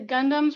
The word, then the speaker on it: Gundam: It's just out in the open right now, but got the Gundams right here.